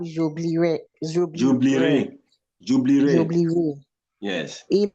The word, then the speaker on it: j'oublierai: In many instances, the E before the R is silent, especially in verbs ending in IRE, RER. Okay. Je, so it's not j'oublierai.